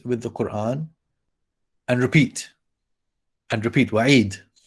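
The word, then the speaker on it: وعيد: the Quran whoever fears wa'id. What is wa'id? It is, you know, the ya is removed from pronunciation and writing, but we have a kasra still there, wa'idi, but we don't pronounce that when we end.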